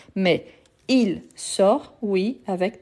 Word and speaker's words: sort: avec S mais il sort oui avec t il sort il part donc ici je ne prononce pas le S et le T à la fin donc on a la